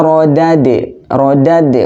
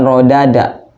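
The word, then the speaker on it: رَدَدْنَاهُ: Cuman agak sedikit berbeda di rodad. Jadi bacanya harus thumma rodad, bukan rodada, enggak, tapi rodad, karena huruf dal yang keduanya itu sukun, makanya dibaca harus agak ke-an gitu.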